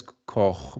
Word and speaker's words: Koch: In German it's Koch, Koch. but it's I know it's not. Nope, Yeah, nope. you Pronounce it the do a right good way.